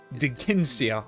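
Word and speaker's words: Dheginsea: into gold by accident the dragon king digincia di ginsea okay well now i know how to pronounce it former companions nasir and ena appealed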